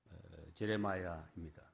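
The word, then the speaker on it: Jeremiah: 위해 태어났다라고 하는 말씀입니다 예레미야라고 하는 사람의 말을 영어 발음으로 하면 제레마야입니다 라고 하는 단어에서 파생된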